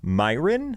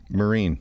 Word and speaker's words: Myrin: last name I have been pronouncing for years, mispronouncing for years. That's f Myin. No, no. I say Mirin. Okay. Marine.